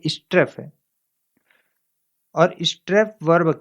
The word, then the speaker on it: strafe: स्ट्रेफ स्ट्रेफ स्ट्रेफ को दोस्तों वर्ब के रूप में यूज किया जाता है। इसका उच्चारण एक बार और देख लीजिए, स्ट्रेफ। ये स्ट्राफ नहीं है, ये स्ट्रेफ है।